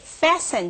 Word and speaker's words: fasten: Okay, fasten 这个字就是扣的意思。这个 t 是不发音的，同学要注意到。那 fasten 刚刚令老师的解释说，任何的纽扣子，或者是有 zipper 有拉链的，或者是那种扣环式的这样子的动作，都叫做 fasten.